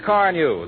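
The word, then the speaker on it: Carnu: And of course, do it the easy modern way, with Johnson's Car New, that both cleans and polishes in one application.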